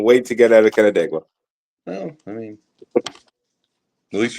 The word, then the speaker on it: Canandaigua: And he couldn't wait to get out of Canandaigua.